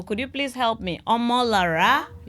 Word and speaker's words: Omolara: I don't want to pronounce it wrongly. So could you please help me? Omola. You're right. Spot on. Omola.